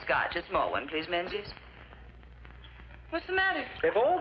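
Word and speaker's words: Menzies: a small one please menes what's the matter if all these Atlantic packs are to go through you Yanks will have to learn to speak The King's English and Men is just pronounced mingis why well don't ask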